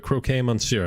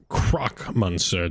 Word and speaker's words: Croc Monster: introductions you are the croquet monsieur are you not that's croc monster to you undo people always get the pronunciation oh my god oh